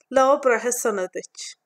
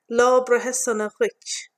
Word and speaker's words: Lá breithe sona duit: Lá breithe sona duit. It can also be pronounced lá breithe sona duit.